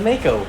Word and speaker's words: Mako: It's the Mako, like the shark.